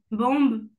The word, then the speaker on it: bomb: Limb, bombe, dumb. Ok, alors là, t'as pas réussi à deviner la petite règle. Oui. On prononce jamais le B à la fin.